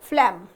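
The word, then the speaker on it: phlegm: जो म्यूकस निकलता है नोज और थ्रोट से, वो कटार है, और इसका सिनोनिम है फ्लैम, जिसमें जी साइलेंट है।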